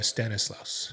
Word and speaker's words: Stanislaus: It's uh Stanislaus.